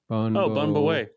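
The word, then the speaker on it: Bún bò Huế: I'm sending you this link, and again, I'm gonna screw up how to pronounce this. Bun Bo Hui. Bun Bo Wei.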